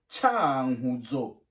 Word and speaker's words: Cankuzo: oiseaux ou inhalé mois on prononce chan guzzo tu répètes avec moi tchaoudjo la province de cankuzo et à l'est du